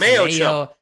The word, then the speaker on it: Mayochup: Mayochup. What is it? Mayochup? Mayo and ketchup mixed? In a chip? Is it mayo chip? It's Mayochup.